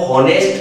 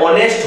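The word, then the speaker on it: honest: ठीक है, silent letter होने की वजह से इसका जो प्रोनाउंसिएशन है वो होनेस्ट के बजाय ऑनेस्ट हो रहा है, क्योंकि इसका प्रोनंसिएशन ओ हो रहा है, तो ये साउंड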